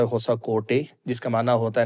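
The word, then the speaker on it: ಹೊಸಕೋಟೆ: میں ایک قصبہ ہے ہوسکوٹا، جس کا مقامی زبان میں تلفظ ہوتا ہے ہوسا کوٹے، جس کا معنی ہوتا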